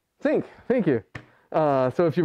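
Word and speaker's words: sinc: Rhymes with blink. Sync, thank you.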